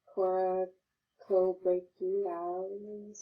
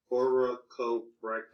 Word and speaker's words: Coracobrachialis: So, coraco has 3, syllables to this, what I'm trying to say. So, coraco. Coracobrachialis.